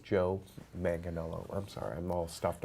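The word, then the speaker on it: Joe Manganiello: solo film Joe manganello see Daniel Kuper it's pronounced Joe manganello I'm sorry I'm all stuffed up he knows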